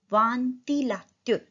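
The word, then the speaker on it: ventilateur: फैन को बोलेंगे वांतिलात्युर. तो व ई एन का sound O. टी एल ए ला त्युर. वांतिलात्युर.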